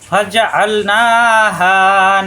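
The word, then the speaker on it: فجعلناها: ফাজআলনাহা নাকালাল lima বাইনা। ফাজআল আইন চাপ দিয়ে ফাজআল না একালিপ টান। এখানে ফাজা আল পর্যন্ত কোনো টান নাই।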